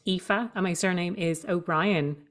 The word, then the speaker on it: Aoife: to spell my name it's spelled a o i f e and it's pronounced epha and my surname is